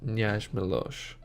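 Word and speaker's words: Knjaz Miloš: Now please let me know if I'm pronouncing that wrong, but from what I've found online it is pronounced Knjaz Milos.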